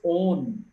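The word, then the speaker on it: -one: Ketone ketone secondary suffix is own. O N is not one it's own. When it is a secondary suffix you pronounce it as own.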